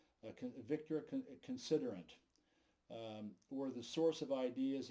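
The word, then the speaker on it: Considerant: for you c-o-n-s-i-d-e-r-a-n-t when i see french words i have a tendency to pronounce them in french victor considerate were the source of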